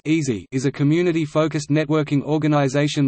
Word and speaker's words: EASI: Engineering and Applied Sciences Interest House (EASI), the EASI pronounced easy, is a community-focused networking organization located in on-campus